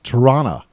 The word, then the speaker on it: Toronto: i i lived in toronto more accurately said torana t-a-r-a-a-n-n-n-a toronto toronto well i'm on